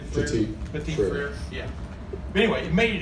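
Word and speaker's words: Petit-Frère: Petit Frere. Petit Frere.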